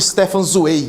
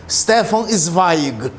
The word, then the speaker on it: Stefan Zweig: era Stefan zweig pessoal no Brasil acaba pronunciada errado o nome dele é só chamava de Stephen swai e não tem nada zoei e não Stefan zweig tão o Stefan zweig